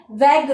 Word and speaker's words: vague: तो यहाँ पर जो शब्द है VAGUE, इसको कुछ लोग हैं वो उच्चारण में वैग्यू करते हैं, परंतु इसका शुद्ध उच्चारण जो होगा वो वैग होगा।